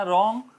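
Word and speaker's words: wrong: इसी तरह रॉन्ग, रॉन्ग के अंदर W साइलेंट, RONG, रॉन्ग बोला जाएगा।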